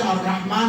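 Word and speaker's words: الرحمن: जिस तरह से अर्रहमान में अलिफ हम पढ़ते नहीं है, अर्रहमान अर्रहीम, समझे?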